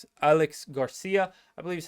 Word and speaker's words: Aleix: Obviously, you also had a player like Alex Garcia, I believe is how you pronounce his name. Just I think it's Alex, but it's spelled Aleix.